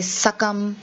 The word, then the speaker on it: succumb: there you say subtle then you say succumb so these are all words where the b is silent so you will see